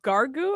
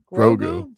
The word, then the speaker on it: Grogu: We have Gargu, I think that's how you say it, and the Mandalorian. Grogu? Grogu.